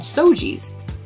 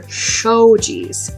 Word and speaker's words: shoji: open, and they're called sojis. Sojis. And I got that mixed up with the character from Hagouki, and he's named Soji, and these are shojis.